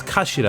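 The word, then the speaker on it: 頭: It's written as a head in Japanese, but it's pronounced as kashira, I believe.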